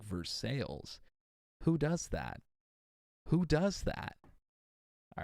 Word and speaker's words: Versailles: Look at how they pronounce Versailles. For God's sakes, Versailles here is pronounced like Versailles.